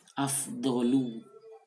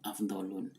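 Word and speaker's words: أَفْضَلُ: Afdolu. Tidak pernah disebut Afdolun.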